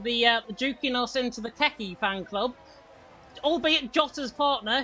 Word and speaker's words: Keke: Mido Mubarak saying Keki, it is pronounced Keki in Finnish.